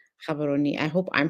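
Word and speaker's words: Gaborone: And as Miss Kim said, it's pronounced, it's spelled with a G, but pronounced Kabaroni.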